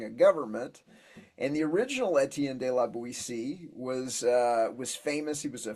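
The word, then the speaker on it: Étienne de La Boétie: He has a real name, but he uses his name like Etienne de la Boétie. Is that way you pronounce it? Etienne de la Boétie.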